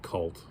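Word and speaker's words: Khult: cameo of lord kohlt i guess it's kaholt it's spelled key at k-h-u-l-t i guess you could say cult but it's spelled kahult avengers number 375 just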